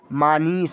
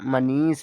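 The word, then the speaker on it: Manish: दी तो हम इसे क्या पढ़ेंगे प्यारे बच्चा मानी मानी उच्चारण सही है गलत है सही उच्चारण मनीष है आई होप आपको समझ में आता होगा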